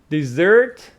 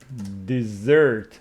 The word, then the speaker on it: dessert: Dessert, what you can eat, and desert, Sahara. So it is dessert with the stress on the second syllable.